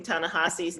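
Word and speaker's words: Ta-Nehisi: teresa oh first of all thank you for pronouncing tahasi's name correctly tahasi everybody i'm a black mfa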